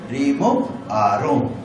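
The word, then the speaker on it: Raymond Aron: की तरह ना लिखे इसको फ्रेंच भाषा में उच्चारण करते हैं रिमूव आरो नाम ये सब लिख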